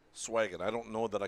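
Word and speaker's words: Sveeggen: Swagen is spelled S-V-E-E-G-G-E-N. So I think we'll say Swagen.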